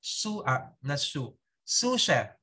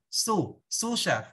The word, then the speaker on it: sous chef: We have the sous chef. Okay? Yung sous chef, yung na-spell niya po S-U-S, S-O-U-S, is sauce, pero yung pronounce is sous chef. Sous chef.